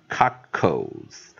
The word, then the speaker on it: cockles: 结尾，不管它是 BLE、CLE、DLE，啊 SLE、TLE、ZLE，我们的 L 跟 E 一定颠倒过来念。E 跑到 L 的前面念 L 跑到 E 的后面念 O，所以我们就念 cockles 啊，所以我们再看老师再啊再标一次哈，啊 V 加 C